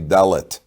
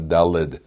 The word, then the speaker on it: dalet: it dalid lamid tough it's actually dalet not dalid we say dalit so